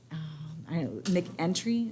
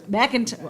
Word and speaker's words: McIntyre: Chip Smith and then Ben McEntry. Is that how you say his name? McIntyre. Okay, I was way off.